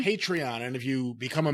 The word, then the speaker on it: Patreon: Is that the way you pronounce it? Patreon? Patreon.